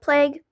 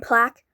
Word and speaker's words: plague: And I'm not saying plaque because plaques are the things you hang on the wall. Yes, it may be spelled the same way. You don't say the same way though. Okay. And I didn't say the a.